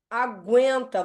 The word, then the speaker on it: aguenta: agora aqui a ó olha o aguento ó a aguenta você faz o seu prolongamento nos lábios então aguenta o u não é dígrafo vou até tirar essa